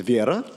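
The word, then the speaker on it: Вера: It's in the Russian pronunciation is Vieira. Uh, but we're going to say Vera. We're in We're in America, god damn it. Um, so I think Vera is fine.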